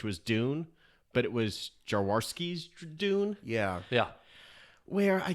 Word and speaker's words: Jodorowsky: made it, which was Dune, but it was Jodorowsky's Dune. Yeah. Yeah. Where I guess in Ron Jaworski, the former quarterback for the Eagles. No wonder it didn't get made. I think it's Jodorowsky. Just okay. Jodorowsky, yeah, sorry.